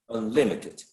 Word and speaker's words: unlimited: several of you mentioned the stress should go on the second syllable unlimited okay unlimited um in